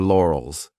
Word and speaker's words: laurels: This could be a hard word to pronounce depending on your native language because we have an R and an L lore, OLS, lore, OLS. So divide the sounds and tell you're comfortable with each sound lore, OLS, and then you can pronounce it as one.